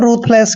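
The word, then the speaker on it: ruthless: की मात्रा पढ़ते हैं टी एच का उच्चारण हमेशा है करना है रूथ क्या हो गया रूथ एल का उच्चारण ल करते हैं इ को ए की मात्रा पढ़ते हैं डबल एस को स पढ़ते हैं रूथ स दोस्तों रूथ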